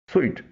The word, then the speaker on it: suite: اس کا صحیح پروننسیشن ہے سوئٹ، جیسا ہم میٹھے کے لیے بولتے ہیں.